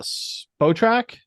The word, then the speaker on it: Spotrac: I do Spotrac.